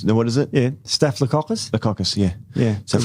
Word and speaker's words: staphylococcus: it the caucus no what is it yeah staphylococcus the caucus yeah yeah so carefully i say